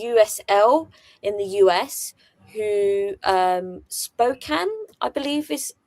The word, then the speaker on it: Spokane: team in the USL in the US who Spokane I believe is how it's pronounced.